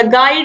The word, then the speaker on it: guide: फिर गिल्ट है, GUILT, गिल्ट में भी यू का उच्चारण नहीं होता। गाइड में भी GUIDE होता है।